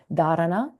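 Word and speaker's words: dharana: r a an a the emphasis is on the first syllable darana and it's having an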